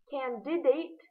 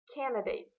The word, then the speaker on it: candidate: Candidate, not candidate.